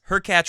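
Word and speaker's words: Khachanov: I get that too my point is her catch rhymes with latch followed by Sam query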